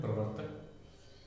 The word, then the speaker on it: प्रवर्तक: प्रवर्तक, ये नया शब्द है प्रवर्तक। प के बाद र का उच्चारण है, फिर ब का, फिर इस ऊपर वाले र का। प्रवर्तक, प्रवर्तक। फिर है साम्राज्य, साम्राज्य।